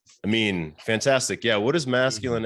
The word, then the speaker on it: Amin: Amin. No, it's Amin.